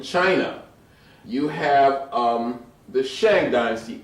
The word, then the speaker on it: Shang: Finally, in China, you have um the Shang dynasty, S H A N G.